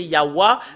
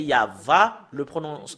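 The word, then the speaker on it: יהוה: la vérité, c'est normalement, d'après les Européens, c'est Yahwa, mais si nous revenons à l'hébreu ancien, c'est Yahva, la prononciation.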